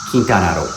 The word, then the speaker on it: Quintana Roo: Or in Spanish it's pronounced Quintana Roo.